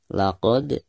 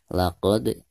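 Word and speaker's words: لَقَدْ: Baik, yang pertama kita bahas laqad. Di sini ada huruf dal. huruf dal sukun sekaligus posisinya ada di tengah-tengah bacaan, maka dihukumi qalqalah sugro dan dibacanya itu harus dipantulkan dengan suara pantulan yang tipis ya.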